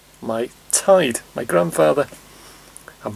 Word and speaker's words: taid: or granddad or were of you we say tied that's our name 9 ask your grandmother or